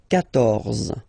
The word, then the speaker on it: quatorze: So remember, Q and U here, well, basically you've got to put this U vowel, because that's the rule in French, even if you don't pronounce it, okay? So you will get the sound K here.